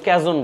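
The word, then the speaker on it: cajón: উচ্চারণ বাংলায় কাহন বলে, কেউ ক্যাজন বলে, হোয়াট এভার, যে যেটা উচ্চারণ করেন হ্যাঁ হ্যাঁ জিনিসটা।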